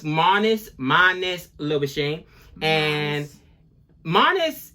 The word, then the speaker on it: Marnus: how do you say it but no it's Manus minus little machine and minus has it a